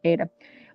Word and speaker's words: Ada: I pronounce it Ada.